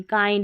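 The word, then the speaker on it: kind: जैसे चाइल्ड, इसमें चिल्ड नहीं, काइंड इसमें किंड नहीं, फाइंड इसमें भी फिंड नहीं, और माइंड इसको भी मिंड नहीं पढ़ेंगे नियम के अनुसार।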